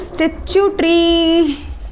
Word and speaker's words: statutory: One of my student had told me that ma'am consider is like statue plus tree. So that's how I try to pronunciate it every single time.